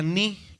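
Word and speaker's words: ν: Sin embargo, en griego es la ni y se pronuncia como una N, ¿verdad?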